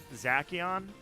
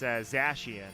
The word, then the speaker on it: Zacian: Journeys or not, but apparently it's not Zacian. It's Zacian. And I'm like, how do you figure that's Zacian? That makes no sense. But yeah, that's how you pronounce that Pokemon's name, apparently.